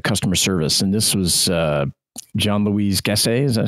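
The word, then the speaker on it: Jean-Louis Gassée: And this was Jean-Louis Gasset, is that how you pronounce Jean-Louis it? Jean-Louis Gasset, yeah.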